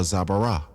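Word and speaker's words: זברה: That's what you're looking for when you're looking for a zabara. Zabara. That's how you say it in Hebrew.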